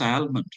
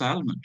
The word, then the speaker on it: almond: I pronounced almond as almond but he says almond. Almond.